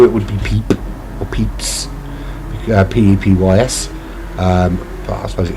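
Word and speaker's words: Pepys: Another, is it pronounced Pepe? I suppose here it would be Peep. Or Peeps, P-E-P-Y-S, but I suppose it is Pepe, isn't it?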